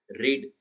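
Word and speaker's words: read: और रीड ऐसी action word है जिसकी फर्स्ट फॉर्म रीड रहेगी, सेकंड फॉर्म और थर्ड फॉर्म भी वही रहेंगी, लेकिन उसका प्रोनाउंसिएशन अलग होगा। रीड, फिर रेड और रेड।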